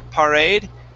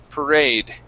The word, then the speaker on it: parade: So instead of par, parade, okay, we start off with an er sound. Per, parade.